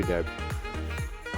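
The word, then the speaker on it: debt: तो स्टूडेंट्स आपने डेब्ट नहीं पढ़ना क्योंकि बी जो है वो साइलेंट है। आई एम अंडर हैवी डेब्ट।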